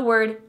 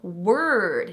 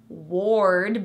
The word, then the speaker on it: word: The word first uses the sound. Also the word bird uses the sound. The O in word is another R-colored vowel. Word, not ward, but word. We also have world and worry.